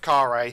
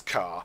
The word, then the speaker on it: Kharé: for the entire chapter I pronounce the city of car a as car so after everything I tweet the lovely people at inkl for the right pronunciation and realize that I've got an a on this city wrong in about nine percent of my recording so let's just pretend the city is called car thank you hey guys